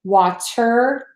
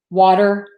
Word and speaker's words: water: say I should specify we do not say water butter hotter vector letters it's fine I mean everyone will understand you if you choose to say it that way what we would tend to say a D which is the flat tea water butter hotter better